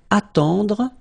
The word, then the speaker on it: attendre: Then, attendre. Attendre. Remember, final you don't insist on it, it just gives you the possibility to pronounce the dr, dr.